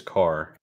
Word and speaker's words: Kerr: developer Chris Kerr um I want to say it's Chris Carr because that's what it is out in Raley North Carolina there's a whole family named car spelled the same way okay okay so good